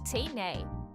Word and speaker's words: Can I: And a pronunciation tip, when native speakers say "Can I?" fast, it sounds like "Tay-nay." The A disappears.